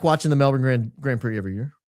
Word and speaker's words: Melbourne: And I like watching the Melbourne Grand Prix every year. That's how I know how it's pronounced Melbourne, not Melbourne, because they say it 100 times.